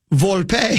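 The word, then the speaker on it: Volpe: this even funnier he goes in English it's pronounced vulpe so it's the same in it's pronounced the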